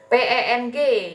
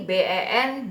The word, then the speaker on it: ben: Ini BEN bukan dibacanya Ben ya, tapi Pen. B-nya jadi P, E-nya jadi E gitu ya.